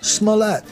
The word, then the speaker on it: Smollett: In the scheme of things, this Jussie Smollett story, I just learned how to pronounce his name, Smollett.